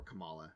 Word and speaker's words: Kamala: of side missions with kamala or kamala that's how it's pronounced she's not the vice president and yeah i i